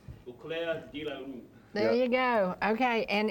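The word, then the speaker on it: Au Clair de la Lune: And it is called, how do you pronounce that? I don't know. What year was it? French artist. Eau de Claire la Lune. Eau Claire de la Lune.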